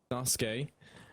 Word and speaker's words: Sasuke: That's going to put it into a 3-on-4 now, and Woxic, Calix, and Suzuki, or Sasuke, however you want to say it. Sasuke.